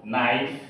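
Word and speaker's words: knife: ইজিই নলিস তো এখানে কে এন একসাথে সংযুক্ত হওয়ার কারণে এখানে আমরা দন্তন নয় প্রতি উচ্চারণ করেছি অর্থাৎ কে বাদ দিয়ে এন এর উচ্চারণ করেছি নো নাইফ need knowledge C ইউ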